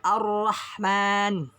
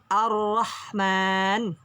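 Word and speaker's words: الرحمن: ketika diberikan tes Dit maka dia di Latinnya airnya itu ada 2 jadi bacanya Gimana Pak arohman arohman Ar Rahman jadi ada dua hurufnya kemudian Bagaimana yang bawah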